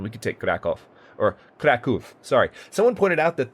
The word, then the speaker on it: Kraków: could take Krakow, or Kraków, sorry. Someone pointed out that this is actually not an ah sound, like it would be in English. This is a oo sound, it's Kraków.